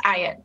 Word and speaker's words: Ayotte: It's pronounced Ayotte, but very close.